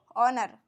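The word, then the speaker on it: honour: silent हा silent है और इसको ओनर इसको होनर नहीं पढ़ेंगे हम इसको ओनर यहां पर भी एच जो है हमारा साइलेंट है तो आइए हम देखते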